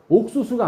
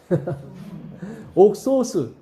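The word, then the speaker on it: ὄξος: 옥수수가 아니라 옥소수. 옥소스. 소스라고 했죠. 옥소스예요. 옥소스. 옥수수라고 생각하시면 돼요. 우리나라 발음으로.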